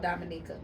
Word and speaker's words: Dominica: Dominica? It's called Dominica.